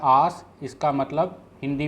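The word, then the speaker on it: ਆਸ: इसका उच्चारण रहता है आस।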